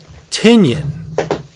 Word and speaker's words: Tynion: one written by James tyion is it sure okay supposed to rhyme with onion right so it would be Tenon right James tenyon IV illustrated by Martin Simmons